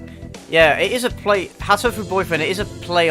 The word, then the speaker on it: Hatoful: Hatoful Boyfriend, it is a play on words. Just because the pronunciation of heartful, I think, is... if you pronounce... It's pronounced like hateful in English.